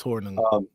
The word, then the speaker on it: Hornung: Honorable mentions, they've got Paul, I can never say his name right, Hornung? Yeah, it's Hornung.